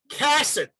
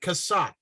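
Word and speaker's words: Cassatt: The other thing is according to his survivor's cousins, Alexander's last name is pronounced Cassett, not Cassat.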